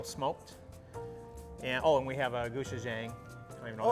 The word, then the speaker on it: gochujang: And we have a gochujang. I don't even know Oh, that's the what you say. gochujang? Yeah, thank you for That's the pronouncing Korean that style?